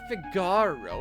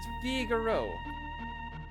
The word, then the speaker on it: Figaro: It's not Figaro, it's pronounced Figaro.